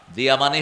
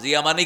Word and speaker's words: জিয়া: দিয়া মানে হল আলো। জিয়া মানে কি? আলো শব্দটা দাল। দিয়া। কিন্তু বাংলাতে আমরা লিখছি জিয়া। আরবি উচ্চারণের সাথে মিল নেই।